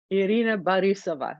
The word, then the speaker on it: Irina Borisova: Irina Borisova is how that's pronounced.